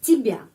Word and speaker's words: тебя: Kenapa Y dibaca I? Karena penekanannya pada huruf ya. Karena itu Y dibaca I. Тебя. Penekanannya pada huruf ya. Sudah tahu peraturan ya. Kalau huruf ya mendapat penekanan tetap bacanya ya. Seperti namanya di alfabet ya.